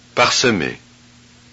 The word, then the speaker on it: parsemé: Thus, to avoid having three speech consonants in a row, the vowel E must be pronounced. Look and listen. doublement, parsemé, vastement, Oh, okay.